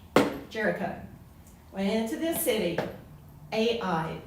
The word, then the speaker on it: Ai: went into this city, Ai, pronounced I, right?